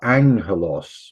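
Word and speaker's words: ἄγγελος: Sometimes if you have two of them together, they're pronounced ing, like angelos, which is the word for angels, los angeles.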